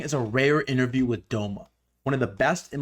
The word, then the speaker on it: Domer: Is it Domah? Am I pronouncing that correctly? Yeah, Domer. Yeah. It's like a Boston accent of Domer.